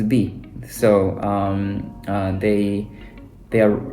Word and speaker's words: 日: times in this world the first one is written is is pronounced as Nichi and the latter one later on uh it's pronounced as B so um they they